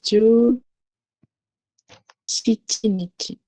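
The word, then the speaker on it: 十七日: So the way to pronounce 17 is ju, shichi nichi.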